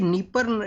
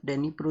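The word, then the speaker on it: Dnipro: करते हैं निप्रो है तो आप देखिए डी यहां पे साइलेंट है र जो यूक्रेन का जो लैंग्वेज है उसके अंदर में डी को बोला जाएगा डेनी प्रो इसको बोला जाता है तो बेसिकली निपर ये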